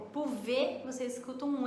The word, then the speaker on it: pouvez: É um exemplo aí, então, que a maioria das consoantes finais a gente não pronuncia.